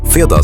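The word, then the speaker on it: fredag: FIA sounds like free day right before the weekend.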